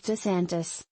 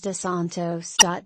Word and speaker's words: DeSantis: But they were also open to thinking about alternatives, like DeSantis, although multiple people interviewed for this story mispronounced his name as DeSantos.